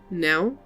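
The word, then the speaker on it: Knell: The K is silent, and most humans aren't too good at picking up on that in the spoken word. Nell?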